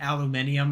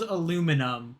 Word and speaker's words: aluminium: People just pronounced it aluminium out of spite, I guess, and so that's why there's two different pronunciations. Ah. But it's spelled aluminum, but some people just pronounce it aluminium.